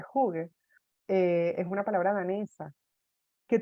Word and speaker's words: hygge: La palabra Heige, que se pronuncia realmente Hygge, es una palabra danesa que tiene que ver con esto que estoy diciendo.